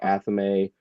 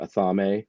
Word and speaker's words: athame: We say Athame or Athame, right? Depending on where you live. But yeah, the Athame is actually how they would have said it in 1952.